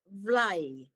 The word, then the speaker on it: vlaai: In Maastricht, I got introduced to their traditional pie, the Limburg pie called vlaai. Vlaai. Okay, so it's like fly and eat vlaai.